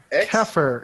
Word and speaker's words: Xeper: Keffer. It sounds like Keffer, but it's Xeper.